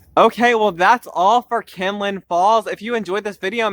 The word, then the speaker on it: Kinlock Falls: Okay, so in this video, I'm actually taking you to Kinlock Falls, not Kinlin Falls, and I apologize for pronouncing it like Kinlin Falls throughout the entire video.